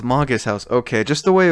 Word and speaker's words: Magus House: It's pronounced Magus House.